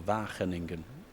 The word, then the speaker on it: Wageningen: It burns atop a monument in a town called Wageningen, or Wageningen, so to pronounce it more accurately.